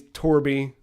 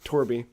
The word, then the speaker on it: Torb: So I made him, and his name's Torby, T-O-R-B, but it's pronounced Torby.